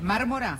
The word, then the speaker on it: Mármora: A Mármora, o Marmora, ¿cómo se dice? Mármora. Sí. Vos sos vocera de Referente Joven, justamente, Frente ¿no?